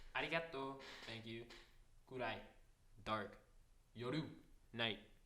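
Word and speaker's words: 夜: Yoru. Night. Pronounced yolu.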